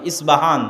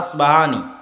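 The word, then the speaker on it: أصبهان: আরবিতে হয় আল আসবাহানি, বা উচ্চারণ হয় ইসবাহান বা আসবাহানি।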